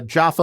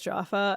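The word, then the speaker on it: Japha: Can I Can I just tell you because his character's name is Jaffa, I just keep thinking Jaffa cake.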